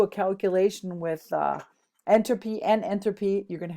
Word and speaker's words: entropy: so things to remember about enthropy entropy I should say it right enop is heat entropy